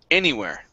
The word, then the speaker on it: anywhere: there were anywhere okay so instead of only putting the stress here uh we actually put the stress at the very beginning and then at the end so it's da da anywhere anywhere there you go good yeah so it's at the beginning and then a little bit at the end as well okay um good um